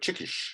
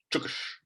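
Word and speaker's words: çıkış: But the Turkish word chikish, I believe it's pronounced chukish.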